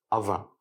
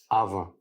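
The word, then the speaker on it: அவன்: Pour dire il en tamoul, on dira aven. Je répète, aven. Il s'agit donc de la forme informelle. Dans le tamoul parlé, le N final est un son nasal. Il se prononce avin. Je répète, avin.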